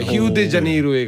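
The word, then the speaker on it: Rio de Janeiro: 심지어 브라질 쪽 가면 빵이 아니라 뻥이 돼 뻥. 발음이. 예. 그래서 거기 설탕 빵산이라고 있는데 뻥지 아수카르. 뻥지역과를 뻥지 아수카르. 히우데자네이루에 가면 이제 바게트처럼 히우지자네이루. 히우데자네이루. 비유 디자인.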